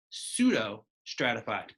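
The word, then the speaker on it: pseudostratified: and this is called pseudo stratified this P is silent don't pronounce that P it's pseudo stratified pseudo means kind of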